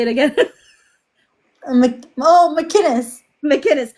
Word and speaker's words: McInnes: McInnes. McInnes. How come I literally forget it the minute it comes out? Because McInnes. so the pronunciation put like kin, like next to kin.